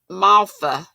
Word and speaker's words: Malva: Malva it's Malfa, isn't it, Ursula? I think you said it's pronounced like the F sound instead of the V.